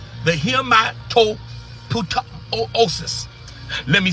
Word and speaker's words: hematopoiesis: Our blood cells are manufactured in the bones, which is called the hematopoiesis. Let me spell it, y'all.